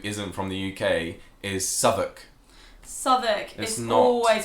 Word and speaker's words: Southwark: It's spelt Southwark. I don't know why it's a uk instead of walk. But it's Southwark.